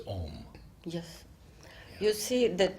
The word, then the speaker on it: Om: And Sri Aurobindo has written mostly O-M. Yes. Because that is the way it is like not that. Aum. No, Om. it is written A-U because this double vowel is pronounced O.